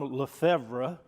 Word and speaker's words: Lefebvre: So my name is Lefebvre. It's a French name. The B is silent.